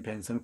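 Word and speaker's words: Bentham: 여러분, 벤담이라고 배웠지? 제레미 벤담이라고 배웠는지, 벤섬 이렇게 발음하지?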